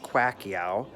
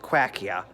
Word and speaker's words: Pacquiao: that and I go I believe he says quack eeeh or qua she air and lots of people have gotten it wrong anyways big shout out